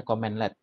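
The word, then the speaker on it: cmdlet: powershell itu itu ada namanya comment LED bacanya CMD tulisannya CMD Libya comment LED itu itu komen LED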